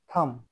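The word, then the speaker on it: thumb: হবে না লাম টি এইচ ইউ এম বি থাম এখানে সি উচ্চারিত হবে না অর্থাৎ সি সাইলেন্ট থাকবে যেমন এস সি ই এন টি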